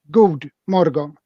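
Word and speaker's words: God morgon: word good morning okay on Swedish it isn't say God or something it is pronounced good Morgan so it is easy to pronounce this wrong because it's the English word for God right yeah so we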